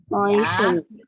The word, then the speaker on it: moisten: Moisten. Jadi tidak moisten gitu ya, moisten.